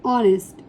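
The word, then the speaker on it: honest: H silent है एंड ऑनेस्ट इसमें H silent होता है एंड एम एंड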